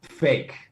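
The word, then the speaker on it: PHEIC: The acronym is, by the way, pronounced fake.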